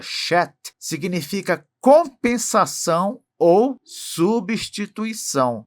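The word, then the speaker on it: שֵׁת: Em hebraico, esse nome que na verdade se pronuncia shet significa compensação ou substituição.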